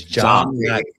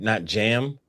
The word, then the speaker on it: John: It's John, not Jam. Some people say Jam.